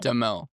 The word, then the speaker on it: Duhamel: Duhamel.